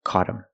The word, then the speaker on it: caught them: If I talk about more than one person, them, the word is not stressed, so you don't hear the TH. And again, the T is a fast D.